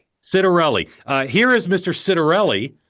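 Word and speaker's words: Ciattarelli: And uh Jack, how do you pronounce Jack's name? Citerelli. Citerelli.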